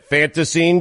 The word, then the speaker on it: Fantasine: Fanta, like the soda, scene, dream. That's it. Fantasine Dream.